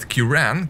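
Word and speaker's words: Ciaran: to me is that Kiran gave me more trouble than notorious and what might be surprising to you is that that's in fact the correct pronunciation human why have you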